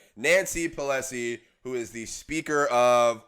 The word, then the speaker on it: Pelosi: preface is a little bit by saying Nancy Pelosi who is the speaker of what my sing her name wrong why are you laughing how do you